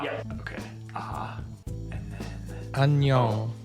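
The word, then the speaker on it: 안녕: Yeah, but perfect pronunciation. Nice Okay. job. Okay. Annyeong.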